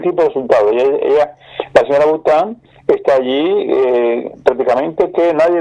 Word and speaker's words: Boutin: ¿Cómo se pronuncia? Boutin.